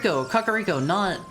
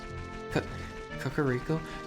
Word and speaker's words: Kakariko: Kakariko, not Kokiri Forest.